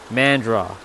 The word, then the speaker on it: Mandara: Mandra. So it's spelt Mandara, but it's pronounced Mandra.